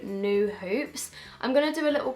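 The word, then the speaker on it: Nue Hoops: and there was a company there called New Hoops, which is spelt like N-U-E Hoops.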